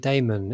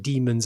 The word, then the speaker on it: daemon: But I mean, that is supposed to be pronounced demon anyway, because it's or possibly diamond.